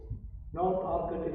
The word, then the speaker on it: Arcot: North Arcot is pronounced North Arcot. Alright? That's how you say it, North Arcot.